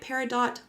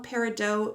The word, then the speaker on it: peridot: how to pronounce peridot apparently you can say it peridot or peridot both are completely acceptable however the gem was